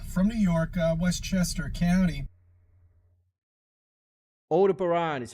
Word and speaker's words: Aldebaran: Aldebaran is how it's pronounced.